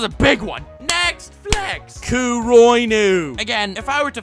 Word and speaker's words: Kuroinu: more political masterpiece than Kuroinu, and most aren't. And if you correct me and say it's actually pronounced Kuro Inu, shut the hell up, it's a hentai.